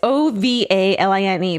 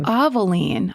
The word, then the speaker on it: Ovaline: It's O V A L I N E, but it says pronounced Ovaline. Ovaline? I've never heard that name. Like Maybelline, but Ovaline?